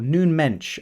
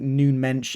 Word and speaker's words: Nuno Mendes: I've got here is Nuno Mendes or noon Mensch as I believe he's is pronounced in Portuguese uh noon bench yeah